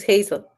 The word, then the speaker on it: Hazel: Spanish but in English is it Hazel or do you still pronounce it Hassel no it's the same is Hazel okay so you pronounce